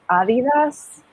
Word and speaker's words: Adidas: brand is actually pronounced adidas because that's like how germans pronounce it and it's founded by germans so they're like really